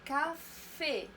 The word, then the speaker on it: café: ملي كتكون لا لتر سي متبوعه ب ا او او ال و ار تنطق ك. مثلا ان كافي، ان كافي ان كافي.